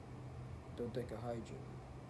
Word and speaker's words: dodecahedron: And I'm about to tell you in a second how to pronounce this shit. I think it's dodecahedron.